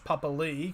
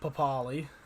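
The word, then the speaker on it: Papalii: ghouler tom starling and josh papali because that's actually how you pronounce it not papali according to uh according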